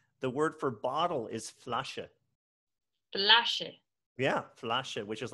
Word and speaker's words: Flasche: So if it ends with an E, you say the E, mm-hmm. right? So I know your grade school teachers have told you for years that E on the end is silent. And then you get to college and you start learning German and your professor tells you, say the E. Right. Okay. Exactly. So Flasche. Flasche.